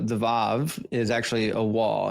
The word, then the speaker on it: vav: vav is actually a wah. It's pronounced wah. Uh not vav. The the v vocalization is for modern Hebrew.